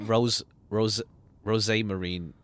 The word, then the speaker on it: Rosmarine: When she says Rosmarine, I pronounce it Rose Marine without the hard Z.